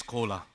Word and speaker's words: Kola: Just on the stage another collaboration is coming because my name is Kola everybody can understand this is exactly same pronunciation of Coca-Cola.